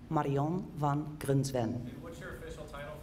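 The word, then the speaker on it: Marjan van Grunsven: as long as you promise to not pronounce it the way it's written okay my name is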